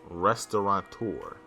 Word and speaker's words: restaurateur: to throw you off I tried to throw you off with the N in there but it's there's no end there's this is our